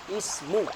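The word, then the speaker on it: اسم: pertemuan yang akan datang untuk kata ini kita membacanya dengan kasrah Ismu sekedar lagi Ismu yang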